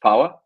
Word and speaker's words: POA: That is POA, that is pronounced POWA.